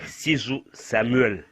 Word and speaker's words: Sidzou Samuel: Michel du plaisir mon nom est si Samuel ça s'écrit Samuel et Michel du plaisir